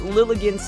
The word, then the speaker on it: Lilligant: sure they knew it uh Lillian's name rhymes with elegant okay Lil against elegant